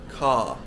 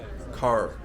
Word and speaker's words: car: properly we just extend we just make it a long vowel so car car whereas Americans pronounce the R so an American would say something like car car excuse my very